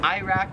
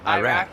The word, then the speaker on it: Iraq: next two are countries so iraq we pronounce it iraq here they pronounce it iraq like we say i they say same thing for the